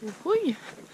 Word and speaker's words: Jujuy: arrived in Tilcara about 2 hours north of Jujuy (which is the correct pronunciation of the name of this city) and